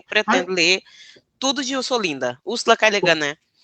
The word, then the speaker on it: Ursula K. Le Guin: Úrsula K. Le Guin, né? Como é que fala o nome da Úrsula? Que eu falei errado. É Úrsula K. Le Guin que se pronuncia.